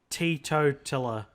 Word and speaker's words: teetotaler: Tea, like you drink tea, teetotaler.